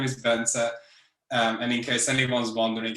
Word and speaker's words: Bence: so my name is bense and in case anyone's wondering how to pronounce my name the secret is that the last e is not silent so it's just simply benzer i'm a junior developer